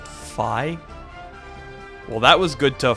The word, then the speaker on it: Fi: placed in the franchise oh it's pronounced phi well that was good